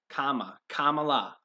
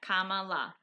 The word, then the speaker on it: Kamala: Think of comma. Kamala. Yeah, Kamala.